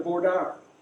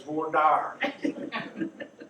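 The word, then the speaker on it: voir dire: right then you finally get down to vorder and that's the way it's pronounced not like some pointy twenty lawyers to say well i do know this is texas by god it's voor dire and you pick a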